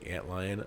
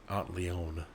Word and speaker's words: antlion: we run into the antlion i didn't know what an ant line was i was i guess too young or whatever and i pronounced that the aunt leone for whatever reason my brother made fun